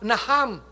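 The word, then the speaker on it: נחם: Y la palabra arrepentirse, que es la palabra naham en el hebreo, se escribe nacham con ch, nacham, significa cambiar de propósito o de curso de acción.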